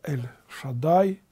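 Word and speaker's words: אל שדי: По-еврейски это имя Божие, пантократор, произносится как Эль-Шадай, то есть тот, который все уравновесил.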